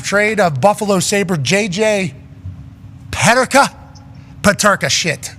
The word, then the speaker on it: Peterka: Actually, where he comes from, it's probably Peterka. Yeah, I was trying to just be as cultured as I possibly could. Sure. He's from Germany. Peterka.